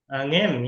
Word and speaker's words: Aunim: Aunim, yeah. Perfect pronunciation.